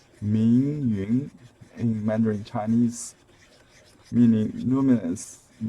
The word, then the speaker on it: Meiun: Her name is Meiun. I think that's a Japanese pronunciation of the Chinese characters. Meiun in Mandarin Chinese, meaning luminous cloud, bright cloud, or luminous cloud.